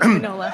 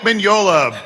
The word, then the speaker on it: Mignola: Mike Manola. Mike Mignola, Bowling with Corpses and Other Tales from Lands Unknown.